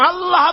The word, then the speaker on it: আল্লাহ: আল্লাহ পাকের উচ্চারণটা হচ্ছে, আল্লাহ পাকের নাম উচ্চারণ হচ্ছে আল্লাহ। মুখটা একটু গোল হয়ে যাবে, বলেন আল্লাহ আল্লাহ আল্লাহ।